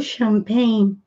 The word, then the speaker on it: champagne: Porque a origem da palavra vem de outro idioma, como, por exemplo, champagne. Champagne, que é champanhe, se escreve com CH e não se fala tchá.